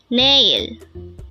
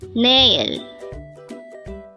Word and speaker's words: 내일: at they hangle word number 80 nail na this pronounce is a two syllable word the first syllable is n second syllable is pronounce it with me nail nail the Korean word nail is an adverb of